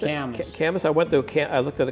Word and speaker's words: Camas: How do you pronounce it? Camas.